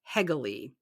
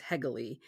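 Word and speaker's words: Hegele: bird suit by Sydney hegley and I think in the podcast that'll follow this one I pronounced their name incorrectly so it is hegal and this was a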